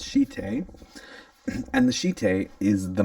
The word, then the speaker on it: shite: It's a Japanese word and it's pronounced shite.